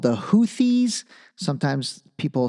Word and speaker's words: Houthis: because their military Rebellion group is called the houthis sometimes people say the houes kind of like hoodie and the Blowfish but it's actually pronounced hes and you know I need to research them